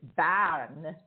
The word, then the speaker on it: Bern: i mean if you if you say it in english people say burn and that's perfectly correct but because i live